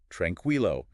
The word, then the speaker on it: tranquilo: But language being language, there are exceptions like tranquilo. There you do hear the u.